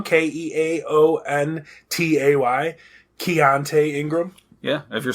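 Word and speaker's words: Keontay: the second string running back so maybe the keante and if i'm saying that wrong k-e-a-o-n-t-a-y keonte ingram yeah if you're saying it wrong he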